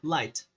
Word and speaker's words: light: Só que esse tão ficaria light, light, com esse tezinho assim, tá? Light, então seria o quê? É só uma dica de pronúncia ali, viu?